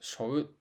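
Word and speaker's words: 背負う: The verb seou, which means "to carry on one's back," is sometimes casually pronounced more like "shou" in Japanese.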